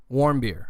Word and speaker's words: Warmbier: Warmbier. I was making sure I got that pronunciation right.